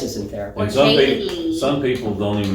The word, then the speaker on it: Jayme: Jayme. I didn't have any problems with it. But people do mess it up. People do mess it up. They could go I had Jame, where the E is silent.